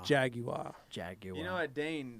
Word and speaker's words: Jaguar: Also, Jaguar, pronounced Jaguar. Jaguar.